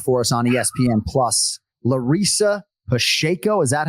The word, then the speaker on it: Larissa Pacheco: Larissa Pacheco, is that how we're pronouncing it, Ken Flo?